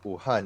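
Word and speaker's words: Wuhan: is the province and ohan is the city okay so we don't you don't pronounce the W like we do it's a very soft W yeah all right so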